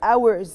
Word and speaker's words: hours: number one are your hours take care of the pronunciation of ours the h is silent okay so where what